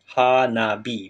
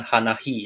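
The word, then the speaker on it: 花火: Nah cara bacanya haabi Hi yang artinya api Bu berubah menjadi Bi Hanabi bukan hanahi ya minasang artinya kembang api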